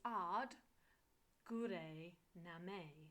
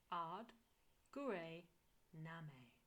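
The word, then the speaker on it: ਆਦਿ ਗੁਰੇ ਨਮਹ: So let's go into how it's pronounced. It's AAD GURAY NAMAY. That's AAD, AAD. GURAY, which is GURAY, GURAY, GURAY. It's always that R. GURAY. And then NAMAY. So NAMEH. AAD GURAY NAMAY.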